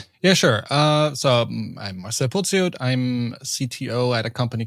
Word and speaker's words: Pociot: So maybe you can So a lot of people try to pronounce it in French, probably because my first name is Marcel, but it's Pociot. That would be like the German pronunciation, so quite hard.